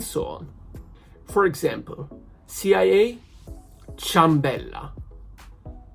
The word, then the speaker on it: ciambella: For example, CIA, ciambella. Ciambella, not chiambella. Because the hard sound of CA, which is pronounced k, ka, because of the I, has become a soft one. So has become cha, ciambella.